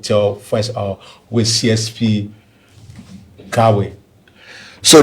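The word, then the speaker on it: Taway: first of with CSP Gawain. So, the way of pronunciation of my name is Gawain. Gawain Gawain. Yeah, it's spelled T A W A Y.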